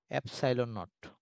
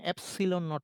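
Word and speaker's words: epsilon naught: এটা এটাকে কিভাবে উচ্চারণ করে সেটা লিখছি, এপসাইলন নট, এপসাইলন নট। ওকে, বা কখনো এপসিলন নট এভাবে বলে অনেকে।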